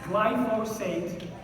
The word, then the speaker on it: glyphosate: Everyone pronounces it wrong. They always say glyphosate. It's glyphosate, or they say glyphosate.